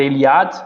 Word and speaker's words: Eliade: Pronuncia-se assim mesmo, Mircea Eliade. Alguns falam ainda Eliade, mas o primeiro nome eu tenho certeza que é Mircea.